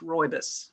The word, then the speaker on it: rooibos: yes roy this r-o-o-i-b-u-s it's pronounced kind of like the boy's name roy and a school bus roybus reubens okay are there